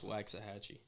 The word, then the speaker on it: Waxahachie: How do you pronounce Waxahachie?